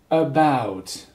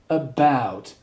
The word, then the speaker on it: about: First off, pronunciation, about, can you repeat, about, so you have the the schwa sound, and then you have what we call a diphthong, ow, ow, so you say about, there are two syllables,